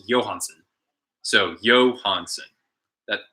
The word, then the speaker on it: Johansson: the way you want to know how to pronounce the Swedish version of Johansson it's Johansen so Johansen that it's not Johansson it's not Johansson it's Johansen um I have